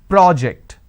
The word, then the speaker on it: project: a first one so when i'm stressing on the first syllable it becomes a noun that means please submit the project i say project this is project here